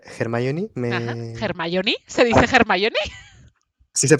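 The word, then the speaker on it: Hermione: que no estuviera germoni me germoni se dice germoni sí se pronuncia sí no hermión no el hecho de que no estuviera Para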